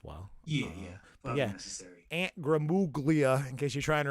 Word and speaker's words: Gramuglia: what we're saying here it has a silent g and his last name